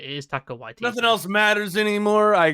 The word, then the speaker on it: Taika Waititi: It is Taika Waititi.